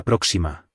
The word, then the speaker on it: próxima: Hasta la próxima. The O of próxima has an accent, so the stress is on the first syllable.